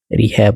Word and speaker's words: rehab: जब रिहैब होता है REHAB तब इसको रिहैब पढ़ते हैं.